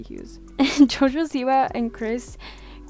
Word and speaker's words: Hughes: I think that's how you say his name. Huge, or no, it has to be Hughes.